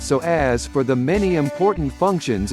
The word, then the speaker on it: psoas: It's often called the mighty psoas, pronounced so as for the many important functions it plays in the movement of your body.